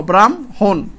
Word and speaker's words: ব্রাহ্মণ: কিন্তু ব্রাহ্মণ না ব্রাহ্মণ ব্রাহ্মণ শব্দটা এটা উচ্চারণের মধ্যে ব্রাম হোন এইযে এইভাবে ব্রাম ব এর রফল আকার ম ব্রাম হোন ব্রাম হন হন এখানে